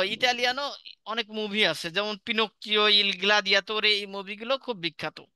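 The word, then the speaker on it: Pinocchio: তারপরে এরপরে যেটা রয়েছে পিনোকিও সঠিক উচ্চারণটা করতে হবে পিনোকিও এটা ইতালিয়ান একটা উপন্যাসের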